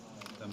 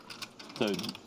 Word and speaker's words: Tien: Tien. One song. It's hard to pronounce if you're not from Netherlands. I would have guessed like it would be like 10. Recheck. But no, yeah, it's Tien.